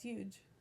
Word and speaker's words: huge: Yeah, it's huge.